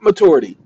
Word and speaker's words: maturity: maturity we want at maturity okay look there's no CH in that word matur a sorry if you guys are pronouncing that maturity there's no CH in this word word Lord have mercy